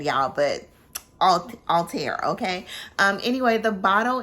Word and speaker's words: Althair: okay we're gonna say Altair me and Sheree and I were trying to pronounce it uh but there's like a French accent on the end y'all but all all tear okay um anyway the